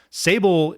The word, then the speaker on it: Sable: He says that Sable is the darkest black on Earth and it rhymes with Fable.